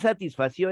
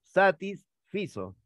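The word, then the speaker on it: satisfizo: haya hablado esto satisfació y no es satisfació es satisfazo pero cómo es eso te comento el verbo satisfacer se va a reconocer al Amparo del verbo hacer ese va a ser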